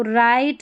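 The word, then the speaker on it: write: डब्ल्यू आर, तो यहाँ पर देखिए डब्ल्यू आर जब भी साथ में रहते हैं ना, तो डब्ल्यू साइलेंट रहता है, देखिए डब्ल्यू आर साथ में है। तो राइट, wrong, रिस्ट, rap, rack, तो यहाँ पर जो है डब्ल्यू आर में डब्ल्यू साइलेंट है, डब्ल्यू साइलेंट है, और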